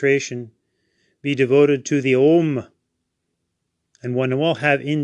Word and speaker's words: Om: we know that the the OM is actually the Sanskrit word a m a but it's often seen spelled with an O because that's the way it sounds so we can use